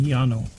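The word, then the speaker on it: Llano: Texas it would be Yano yeah Yano I was gonna say the dou L has always been pronounced as a y as far as I know so um yeah Yano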